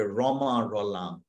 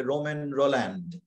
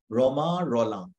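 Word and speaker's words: Romain Rolland: যদি ইংরেজি বানান করে যদি তুমি প্রত্যেকটি অক্ষরের উচ্চারণ করো তাহলে হবে রোমান রোল্যান্ড কিন্তু সেই রোমান রোল্যান্ডটাকে তুমি কি উচ্চো রমা রলাং ঠিক সেই রকম এখানে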